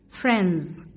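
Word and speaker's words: friends: حاجه مهمه قوي هي هنا حرف الديز بتوين جه بين ان ان اس ولما هنشوف الدي بين ال ان وبين الاس مش هننطقها يعني ايه يا مس قال يعني هتكون سايلنت ليتر سايلنت ليتر حرف ساكن يعني ايه حرف ساكن قال لي الحروف الساكنه دي حروف بتكون مكتوبه في الكلمه لكنها لا تنطق مان man رجل man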